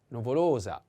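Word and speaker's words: nuvolosa: end of the word the accent is the same on the o second o and is novolosa novolosa so for masculine number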